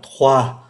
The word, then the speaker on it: trois: Chẳng hạn như là trois thì không phát âm cái từ S cuối, quatre, cinq thì lại